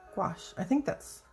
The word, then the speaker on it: gouache: And if you're going for a real pastel, you can add what's called gouache.